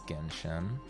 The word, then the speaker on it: Genshin: I say genshin wrong did I say gentian did I wait did I I know it's genshen everyone's talking about star